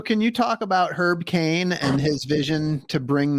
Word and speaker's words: Kāne: So can you talk about Herb Kāne and his vision to bring this back? Got it. So his name is Kāne. It's a Hawaiian name, so it's Herb Kāne.